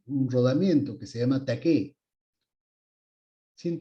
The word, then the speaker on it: taqué: rodamiento que se llama taqué. Sin T, taqué. ¿Ya? Sin T, taqué simplemente. Con acento en la E, taqué.